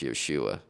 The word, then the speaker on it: Yeshua: day they call him Jesus, but really it's pronounced Yeshua.